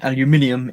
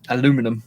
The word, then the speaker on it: aluminium: that uh max says i've never understood why aluminium is aluminum in the us i i always thought that it should be aluminium and americans have just butchered it but apparently when it was discovered i'd say created but when it was discovered it was actually aluminum and we changed it to aluminium to fit in better with the other periodic